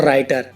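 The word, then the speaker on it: writer: For example, wrong, right और राइटर। इन सब में आर से पहले डब्ल्यू आया हुआ है तो डब्ल्यू साइलेंट है इसमें।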